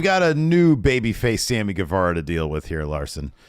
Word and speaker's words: Guevara: Sammy Guevara.